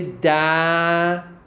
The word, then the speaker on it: dazzle: So the word dazzle is not pronounced like dazzle. It is pronounced like da-z-o, without o, without a, okay, without schwa. Okay, it is dazzle.